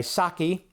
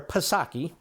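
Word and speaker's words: Psaki: Unlike Pasaki where the P is silent so she goes by saki but then again people drink saki so I call her pasaki and Abby Phillip I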